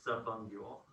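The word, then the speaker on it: subungual: If you so like if you do the word roots, it's sub and then ungule. But you pronounce it subungule, but it's sub.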